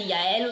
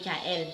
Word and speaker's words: Yaël: On dit Yaël ou bien Jaël. Les deux prononciations sont correctes.